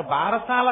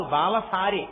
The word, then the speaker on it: బాలసారే: ఏదో ఆ బాలసారే చేస్తుంటారు బారసాల కాదు బాలసారే బాలసారే అంటే బాలునకు ఇస్తున్న సారే కాలుక దాని బలశాల బాలసా బాలసాల భారసాల ఎంత బారమైనా ఎక్కించారు అసలు దాని ఉచ్చారణ బాలసారే బాలసారే యందు ముందు ఆ